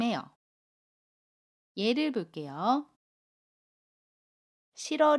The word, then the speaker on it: 싫어: 발음 해요 예를 볼게요 싫어 를 보면 받침 뒤 이일희 이웃과 고음 어가 만납니다 그러면 싫어 라고 받음 해요 받침이 애 슨 아름 하지 않고요 아침 미르 이응 자리로 이동을 해서 러 로 발음합니다 그래서 싫어 라고 발음 해요 또 다른 해볼게요 끌어